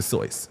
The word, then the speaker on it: Seuss: It's not Dr. It's not We know it as Dr. Seuss. That's what we taught as children. It's Dr. So, okay.